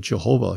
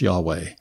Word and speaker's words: Yahweh: for a long time we we dealt with jehovah even christophians will find jehovah in a lot of their language but as people got to know more they got to realize that it really should be pronounced yahweh right and that's what we normally do today